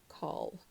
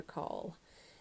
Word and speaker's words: caul: it was gold and I heard the word call so essentially from call to call and um that is spelled c a u l and birth calls are